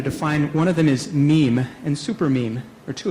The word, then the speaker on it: meme: And the reason he called it a meme is so that it would rhyme with the word gene.